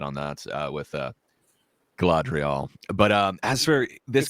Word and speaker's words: Galadriel: been created everything so I used to just say glad drill and I was told it was Galadriel so I've been trying